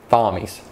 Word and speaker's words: Thommies: No, we did, because you did karaoke in Thommies. Well, what's funny is I did do karaoke in, it's called Thommies. Yeah. So Thommies. But it's spelt like Thomas with an H.